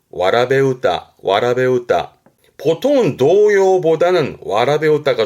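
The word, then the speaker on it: わらべうた: 근데 발음이 와라베우다.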